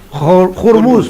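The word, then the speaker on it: hummus: Y ya aprendí que no es ormú, es jurmus. Jurmus, jurmus la pronunciación. Ya. Ahí no más. Ahí tiene que aspirarla.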